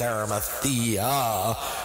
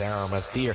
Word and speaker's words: Arimathea: It's Arimathea. But everybody, this is Arimathea.